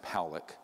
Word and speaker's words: Pollack: This man, William Pollack, his name is pronounced Pollack.